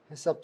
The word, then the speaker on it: HACCP: 요거를 약자로 HACCP, 우리나라 말로 해썹이라고 발음하고 있습니다. 눈썹 말고 해썹, 이렇게 이해를 하시면 될 것 같고요.